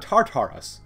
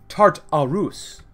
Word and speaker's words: Tartarus: And apparently, our capital is Camp Novos, but this is not Tartarus. It's not like tartar sauce. It's Tartarus. Tartarus, apparently, according to you guys.